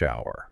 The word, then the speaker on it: hour: The H in hour is entirely silent, right?